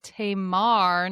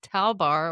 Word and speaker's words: Tamar: Coteal is actually on the river Tamar, not Talbar or Tabar or whatever you said.